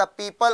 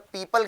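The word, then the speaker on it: people: हमने आपको बताया बेटा जब पीपल की बात करते हैं, पीपुल बोलते हैं कुछ लोग, लेकिन इसको सही प्रोनाउंसिएशन क्या करेंगे, पीपल। पीपल पेड़ होता है पीपल का, वही पीपल।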